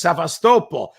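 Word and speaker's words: Sevastopol: twice and insists it's svast but when I heard uh um forign Minister lavro pronounced it he he pronounced it he said it the way we do in English sast Paul yeah so sort of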